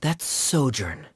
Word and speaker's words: sojourn: together foreign clear director zosimos how do you pronounce this word let me see ah sojourn it means to stay for a while this